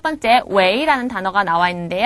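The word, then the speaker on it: 喂: 바로 여보세요 겠죠 자 그런데이 글자는 원래는 웨 성이에요 그런데 전화를 거면서 여보세요 왜 하면은 느낌이 이상하죠 그래서 여보세요라는 어감을 살려 주기 위해서 원래는 성이지만 이성 럼 발음을 합니다 웨이 웨이 여보세요라는 뜻이고요 왕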